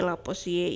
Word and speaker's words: Lavoisier: Nah, yang pertama sekali ini adalah pengelompokan oleh Lavoisier. Siapa sih si Lavoisier ini?